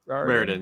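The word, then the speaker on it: Raridon: Raridan. Rarin.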